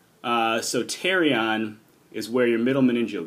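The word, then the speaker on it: pterion: together called your terion spelled with a p at the beginning it's silent p uh so tarion is where your middle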